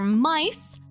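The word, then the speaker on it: Kamen Rider Myth: It's gonna be Kamen Rider Mice, pronounced mice but spelled like myth, and it's probably literally just gonna be Tom and Jerry Kamen Rider style.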